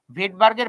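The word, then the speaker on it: Svedberg: মানে হচ্ছে ভেডবার্গ ইউনিট ভেডবার্গের বানান এটা একটা রাশিয়ান নেম তাই জন্য এর বানানটা এস দিয়ে শুরু হয় কিন্তু উচ্চারণ হচ্ছে ভেডবার্গ এটাকে বলা হয় ভেড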